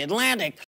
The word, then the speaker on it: Atlantic: Tuesday， student 而不是 student。Atlantic 这个上期讲过了 T 在 N 后面是不发音的 Atlantic But a new article in The Atlantic But a new article in The Atlantic But